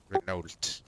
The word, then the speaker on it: Renault: Renault. Renault. Yeah, it's spelled Renault for some reason.